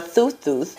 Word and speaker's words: Thoth: Fertile Earth God gab Thoth or thus is how you say it it is also present